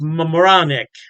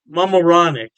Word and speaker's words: Mamaroneck: Halftime Beer has two locations in New York State, Poughkeepsie, and I believe it's pronounced Mamaroneck. Mamaroneck.